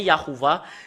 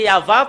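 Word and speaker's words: יהוה: où l'image, ça devient Yahuwah. C'est là que ça vient le nom Yahuwah. Les humains l'ont changé selon leur volonté. Normalement, c'est Yahva. Quand on le prononce, ça devient Yahuwah.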